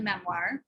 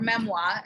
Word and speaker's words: memoir: It's from our perspective, the person who is writing the memoir, or memoir, actually, if you want to pronounce it correctly.